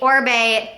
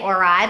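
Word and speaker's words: Oribe: can't live without this product it is the orb dry texturizing spray and i' had been saying orai because that's how it's spelled o r i b e um but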